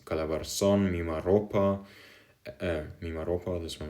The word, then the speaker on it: Calabarzon: So if you're talking of Calabarzon, you have the first syllable of Cal, or not Cal, Ka, so Ca, so it's written Calabarzon like this.